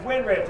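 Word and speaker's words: Winrich: name that way anyway it's win rich it's the two words stuck together but if you say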